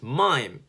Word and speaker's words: Maim: But then I as a kid, I took that so personally, like, no, my name is Mime. It's spelled M-A-I-M, which is, you know, Maim, the verb to maim.